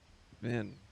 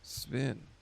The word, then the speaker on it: Sven: Vin. Sven. That's how you say it.